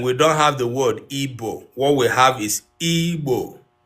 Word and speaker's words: Igbo: But please do not write the word IBO again. It is IGBO. Igbo, Igbo, Igbo, Igbo. If you get confused, pronounce it and spell it in your head.